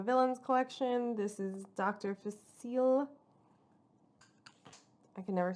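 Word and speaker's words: Facilier: collection this is dr facile i can never say his name when i read it for some reason it just throws me off but it's french so it's dr fasil okay um so i'm excited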